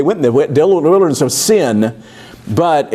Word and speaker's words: Sin: my Bible says the desert of S-I-N, but do you pronounce The it the way... desert of sin. Yeah, see, and that's just a happy little English coincidence.